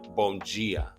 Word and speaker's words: bom dia: But in Portuguese, it's like bom dia. They pronounce their D with a j sound.